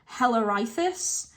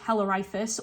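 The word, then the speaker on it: Halirrhothius: It's spelled Halirrhothis. So I think it's pronounced Hellerithus. So the reason that Ares killed Hellerithus was for attacking and raping Alcippe.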